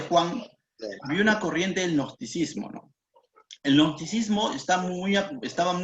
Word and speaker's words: gnosticismo: Eso de nocticismo, no lo entendí bien. Así se pronuncia. No. G-N-O, gnosticismo.